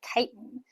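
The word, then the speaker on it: chitin: up of something called kiten and that CH at the beginning is pronounced kind of like a k so kiten and kiten is also a polysaccharide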